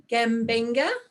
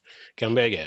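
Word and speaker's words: Gumbaynggirr: If you'd care to elaborate on that, I'm going to try and pronounce may I try being a proud Yagal, Yeah. Bunjalung, Yes. Gambenga, No, Gambuga. Gumbaga.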